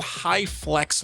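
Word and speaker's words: HyFlex: just learned about and it's called high Flex learning that's spelled h-y-f-l-e-x it's very exclusive it's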